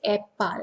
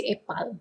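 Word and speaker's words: epal: we have juice apple apple in malay is a pal that's how we pronounce it yep pal but when we speak is so weird to say a pal you know even that's the real pronunciation if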